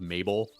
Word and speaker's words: Mabe: or a town called Mabel. Yeah, you know, So, like it's literally just one less. and it's like Babe, letter. but like with an M. Babe, but spelled with an M. Mabe.